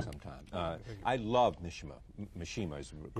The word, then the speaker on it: Mishima: you come back sometime uh I love nishima Mishima is the correct pronunciation because I was always fascinated by him